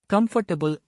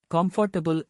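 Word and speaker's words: comfortable: உதாரணமாக, கம்ஃபர்டபுள் என்பது பெரும்பாலும் காம்ஃபர்டபுள் என்று தவறாக உச்சரிக்கப்படுகிறது. சரியான உச்சரிப்பு கம்ஃபர்டபுள் வார்த்தைகளை ஒலிப்புகளாக உடைப்பது உச்சரிப்பை எளிதாக்குகிறது.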